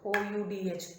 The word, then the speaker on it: Oudh: Two way it is pronounced O-U-D-H, Oudh or Awadh.